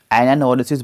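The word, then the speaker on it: anagnorisis: यहाँ पर जी साइलेंट है. एनानोरेसिस बोलते हैं इसको.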